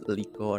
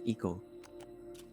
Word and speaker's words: Iko: Some people pronounce it wrong, it's Liko or anything, but it's Iko.